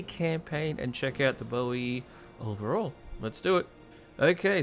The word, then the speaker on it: Boii: not nervy e but I'm going to try and go with Bo e just because the most uh recent sort of pronunciations I've heard have gone with this so I'm going with